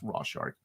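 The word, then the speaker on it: Rorschach: look at it yeah it's pronounced Rock that's right it's pronounced raw shark I don't want a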